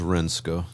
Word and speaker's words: Renske: So the dog I've got now, her name is Renska. Renska. It's spelled Renske.